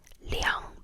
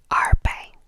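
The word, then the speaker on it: 两: 200 is liang bai. So starting in the hundreds, you don't say arbai. I think nobody says arbai. All the twos will then become liang, liang, which is just, I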